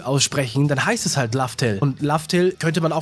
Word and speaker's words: Laftel: Es liegt halt an der Aussprache im Japanischen. Und es ist einfach, für Japaner ist der Reveal einfach nochmal viel krasser, weil sie ja eh schon immer Laftel gesagt haben.